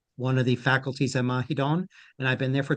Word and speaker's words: Mahidol: The final L sounds like an N, so it's Mahidol. Mahidol.